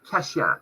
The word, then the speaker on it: Kashyap: Kashyap, have I pronounced that correctly?